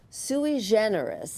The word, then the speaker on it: sui generis: For 11 years, sui generis, and that's how they pronounce it, so I know that's correct.